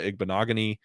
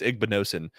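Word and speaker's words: Igbinosun: He beat Noah Igbenogany, or not Igbenogany. It's Igbenosin, the other corner from Ohio State.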